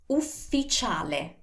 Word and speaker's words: ufficiale: Ufficiale. U, F, F, I, C, I, A, L, E. Ufficiale. See? It's not official, it's ufficiale.